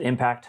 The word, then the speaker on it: MPCT: uh it's mpct yep just pronounce it impact like you hit a Target right because that's what